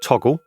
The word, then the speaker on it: Toggl: Use an app like Toggle, it's spelt Toggl, and can be found on the App Store, Google Play, or as a desktop through your browser.